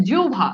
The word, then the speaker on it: জিহ্বা: এরপর দেখেন যদি থাকে হ ব, কি থাকে যদি থাকে হ ব তাহলে হবে অব ও ভ, যেমন দেখেন জিহ্বা, জিহ্বা এই যে দেখেন উচ্চারণটা হচ্ছে জিহ্বা, দেখেন এই যে হ